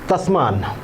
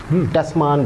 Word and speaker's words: तस्मान: Netherlands के navigator थे जी, उनका नाम था एवेल तस्मान, टस्मान बोल लीजिए आप जैसे प्रोनाउंस करते हैं।